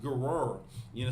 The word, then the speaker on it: Gerar: I don't want to mispronounce it. I believe it's pronounced Gerar.